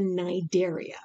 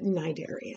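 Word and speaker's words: Cnidaria: next phylum are the nidaria okay now it's spelled c-n-i-d-a-r-i-a the c is silent why i don't i can't okay i don't it's just it is it's the knight area is how we say it these are uh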